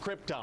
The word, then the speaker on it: Krypton: It's pronounced Krypton.